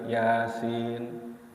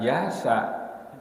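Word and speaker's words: يس: Jadi alif lam mim, terus ada lagi yasin, ya. Jadi jangan yasa, ya. Apalagi tuh, hati-hati kalau kita membaca terjemahan dalam huruf latennya itu bisa terkecoh. Jadi tadinya yasin jadi ya asin, jadi ya asin, lok asin begitu.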